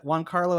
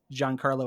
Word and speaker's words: Giancarlo: was with with mando's thing because frankly yeah juan carlo esposito or john carlo how do you say